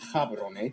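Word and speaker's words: Gaborone: Batswana's capital and largest city is Gabboron. If you speak, it's pronounced Cabaron.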